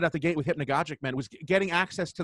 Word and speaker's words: Hypnagogic: So can you actually maybe let's start off by maybe pronouncing them properly for us, so I don't just constantly keep doing that to you. Hypnagogic.